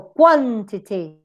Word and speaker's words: quantity: So, for example, quantity, t, schwa, weak, t, neutrally weak. Custody, custody, the same example. Emperor, emperor. Enmity, enmity. So we tend to use it, we use it in the first syllable if the rest are weak.